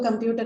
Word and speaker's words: computer: stress remains on the second syllable, which is why you don't see any change. Although computer is a noun after derivation.